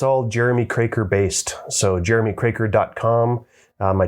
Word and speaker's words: Kroeker: o e k r so that's partly why I started that YouTube channel was just to teach people how to pronounce my last name it's uh it's difficult to spell uh it's Jeremy crer it's Jeremy's Channel but